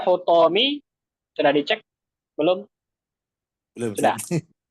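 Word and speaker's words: حطام: Bacanya hutomi. Sudah dicek? Belum? Belum, Sudah? Ustaz. Belum? Belum. Belum. Coba cek. Pastikan hu atau ha atau hi. Jawabnya hutomi. Betul, Hasan.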